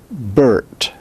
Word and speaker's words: Bert: Like in the name Bert. Bert phonetically would be written as B-R-T. There is no vowel in the name Bert. The R takes the place of a vowel.